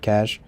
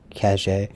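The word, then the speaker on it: Caché: what cat cache catch sorry cash i think it has an accent on the e though right cache did you see man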